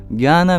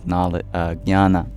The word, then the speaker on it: Jnana: Jnana means knowledge. And in fact, that funny sound at the beginning, nya, nya, it's a J next to an N.